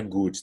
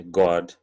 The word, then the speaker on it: God: Mas assim, presta atenção na pronúncia dessa palavra. Não é good, tá? Tem a expressão, a saudação, né? God bless you. A gente não fala, não é good bless you, tá bom? É God bless you.